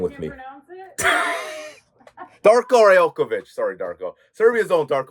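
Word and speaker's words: Darko Rajaković: By the way, for the record, it's pronounced Darko Rajelković or Darko Rajelković. Yes. Darko Rajelković.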